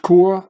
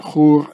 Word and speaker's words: Chur: Here it even says again Chur, which is pronounced Kur in German and Chur in Swiss German.